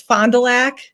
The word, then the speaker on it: Fond du Lac: awesome candidate running for the city council of fond du lac wisconsin am i pronouncing that correctly pretty close uh wisconsin that up for you a little bit it's fond du lac black lack yeah cool all right fondulac um